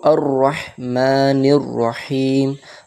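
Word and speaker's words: الرَّحْمَٰنِ الرَّحِيمِ: যেহেতু লাম আছে ওজন্য আলিফে জবর আসবে তো আর রাহমানির রাহিম রাহমান এতে বেশি টান বাড়াবো না এক আলিফ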